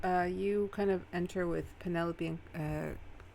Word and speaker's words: Penelope: It's like, oh, I'm gonna start pronouncing Penelope like envelope. Penelope. Penelope. Penelope. Penelope. Antelope. No. Yeah, envelope like Penelope. That's awful. No, we're not doing that. Oh, that sounds wrong. Okay, so Calliope and Lysandra